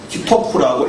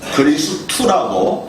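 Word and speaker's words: 基督: 참고로 일본에서도 우리나라처럼 글자로는 기독이라고 표기하지만 읽을 때는 기토쿠라고 읽지 않고 그리스투라고 그렇게 읽는다고 제가 들었습니다.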